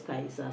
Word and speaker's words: Caesar: we have this book I like pronouncing it in the Original Latin it's Julius kaisa so this is Julius Caesar it's a an Abridged